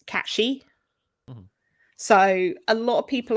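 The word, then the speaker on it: Cait Sith: called the Kate Sith, but it's not pronounced that way in Gaelic. I can never remember which is the correct pronunciation. But the correct way to pronounce the creature from folklore is Catchy.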